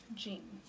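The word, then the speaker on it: جيم: Gan kind of makes this is how you pronounce it gan um it makes the J sound the next one similar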